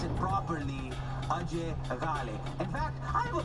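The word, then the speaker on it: Ajay Ghale: AJ Gale. Or, as we all pronounce it properly, Ajay Gale.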